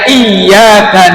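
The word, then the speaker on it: إِيَّاكَ: situ di ayat yang iyaka nabudu wa iaka Nain pakai tasdid ynya ditekan bacanya iyaka itu kalau diterjemahkan iyaka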